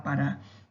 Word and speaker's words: Pará: Quando eu vou cantar Pará, Pará, Vatapá. Perceba que a sílaba em que mais demoro é o Rá do Pará e o Pá do Vatapá. Significa dizer que são oxítonas.